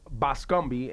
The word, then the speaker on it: Bascombe: He is a married man, but his last name is Bascombe, and I just. No, it's Bascom. But it's spelled with a B-E on it. It's Bascombe. Bascombe.